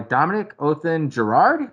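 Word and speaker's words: Dominique Othenin-Girard: to do on this film was directed by Dominic Othen Gerard, is how you say it.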